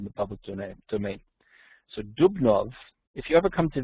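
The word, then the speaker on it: Dubnow: the Jews in Russia and Poland by Simon dubnov or in spelled no d-u-b-n-o-w but it's pronounced here it is published in English was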